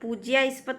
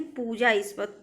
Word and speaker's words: पूजास्पद: प्रतिनिधिक, प्राप्ति, पूजास्पद, पूज्यास्पद नहीं, पूजास्पद।